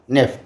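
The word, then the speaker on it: neuf: और next wheat, okay, WEET, spelling है HUIT French में, इंग्लिश में उच्चारण होगा वीट। उसके बाद नेफ, सो NUHF नेफ, ठीक है?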